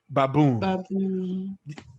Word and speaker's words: baboon: two syllable words exceptions any words that ends with o o n the stress itself is on the o o n am i claire yes go to raccoon let's give another one now you know this guy baboon did you see there it's not on the first it's on the second one yes so good